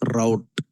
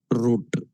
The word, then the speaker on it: route: We pronounce this as route not root.